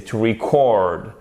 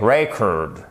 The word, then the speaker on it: record: To record. Le E se prononce comme un I court et on a l'accentuation sur la seconde syllabe. Et le disque, donc l'enregistrement, c'est record. Vous avez l'accentuation non pas sur la seconde syllabe, mais sur la première. Et le E ne se prononce pas comme un I court, mais comme un E. Record. OK?